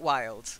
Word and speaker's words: wild: and then bewildered not wild so we've got wild a wild child okay so wild rhymes with child good way of remembering